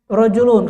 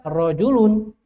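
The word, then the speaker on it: رَجُلٌ: saya ingin katakan laki-laki Ya sudah baca rjulun Saya ingin katakan kaki bacalah rij rijlun walaupun tidak ada harakat kita baca tetap rijlun untuk kaki rijlun kaki rjulun laki nah begitu tergambar mudah ya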